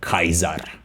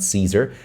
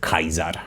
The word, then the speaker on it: Caesar: pronounce it, and also always C is pronounced as K. So Z is K. Kaiser would be the way, not Caesar, Caesar, but Kaiser, right?